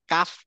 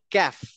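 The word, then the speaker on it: كاف: তাইতো হ্যাঁ কাফ ক কাফকে এরা যখন এরাবিকটা উচ্চারণ করে তখন কাফ কয় আকার বলে কিন্তু আমরা যেটা কয় আকার কা বলি ওরা বলে ক্যা বুঝছেন মানে কিছুটা আমাদের জফলার মতো তাহলে আমরা বলবো ক্যাফ নট কাফ হ্যাঁ মানে বলবো হচ্ছে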